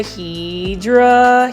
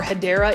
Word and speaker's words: Hedera: and this is the Hydra Helix, or the English ivy Bettina, or Hedera is the correct way to say Hedera Helix. So for those that are new, I mispronounce Hedera Helix as Hydra Helix because for the longest